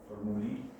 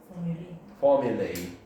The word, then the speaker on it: formulae: What is the plural? Formuli. Again, this is Latin, clearly. Then the pronunciation in English? Formulae. Yeah?